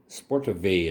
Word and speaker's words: Sportowy: Sportowy is, I believe, how they pronounce that.